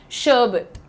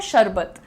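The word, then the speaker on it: sherbet: शर्बिट। शर्बिट ये अंग्रेजों की निशानी है भाई। वो शर और र को अक्सर साइलेंट कर देते हैं। टी को जेंटल कर देते हैं। हम कैसे बोलते हैं? शरबत।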